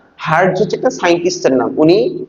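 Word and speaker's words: hertz: এরকম এইচই আর পিজেড এটার উচ্চারণ কি হারজ না হার্টস হচ্ছে একটা সাইন্টিস্টের নাম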